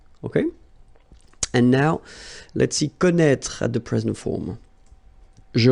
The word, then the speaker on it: connaît: Well, you pronounce these three forms the same way. Okay, connaît, connaît, and then connaît.